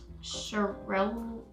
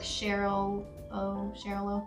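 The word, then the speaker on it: Xarel·lo: Cheryl-ooh, I think it's pronounced. It's like Cheryl-ooh. It starts with the X. It starts with an X though.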